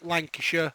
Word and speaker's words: Lancashire: in England we don't we don't say the shire it's a sure sound so it's Lancashire Yorkshire Derbyshire things like that so yeah so obviously I like live in Lancashire I work for the